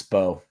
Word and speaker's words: Mbow: It's the M is silent. It's Bo.